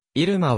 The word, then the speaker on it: 入間: 要ソショーガール現在イルマはイルマと読むが古くは要りまと発音していたことが知られる軍側